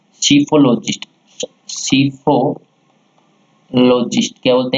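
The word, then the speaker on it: psephologist: है उसे बोलते हैं सीफोलॉजिस्ट। क्या बोलते हैं? जो इसमें पी साइलेंट है, क्या बोलते हैं? सीफोलॉजिस्ट।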